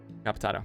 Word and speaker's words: decapitado: Decapitado. Yeah, that's exactly how it's said, actually.